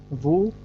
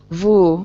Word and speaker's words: Vu: Can you tell me the correct pronunciation of your name? Vu? Vu.